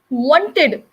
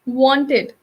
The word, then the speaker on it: wanted: english language so the some people over exaggerate for example they say wanted that is not correct this is not the right way because english is a soft spoken language which which should not emphasize on the last letter you should softly release the last letter so instead of saying wanted you can simply say wanted with just having a little stress on the dir sound at the end many of